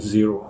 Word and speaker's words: Xero: cloud accounting software company called zero with an X it's very important I spell that because lots of people TR with Z it's a great